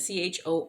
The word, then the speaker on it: chorionic: churionic i'm not sure exactly sure how to pronounce that c-h-o-r-i-o-n-i-c i'll say chorionic will i increase surface area